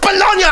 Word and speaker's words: bologna: inventions are not just baloney it's pronounced bologna and no no they're